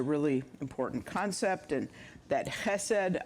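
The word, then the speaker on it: חסד: important concept and that hessed I spell it c h s d if you want to know how to spell it it looks like chessed but we don't say CH in Hebrew so it's the um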